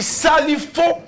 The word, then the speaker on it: Salifou: C'est Salifou Tiemtouré.